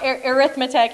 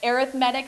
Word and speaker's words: arithmetic: the main focuses of this chapter is on arithmetic sequences so it's not pronounced arithmetic here it's arithmetic sequences and for arithmetic sequences there's a constant